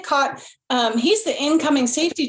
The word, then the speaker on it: Kot: said trip and Nick how do you say your last name Nick pot not coat Nick caught um he's the incoming